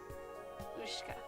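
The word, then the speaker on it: Ушка: The Y is pronounced. Ooh. The thing that looks like a W is she. And is sh. And the K and the A are both pronounced as in English. Ka.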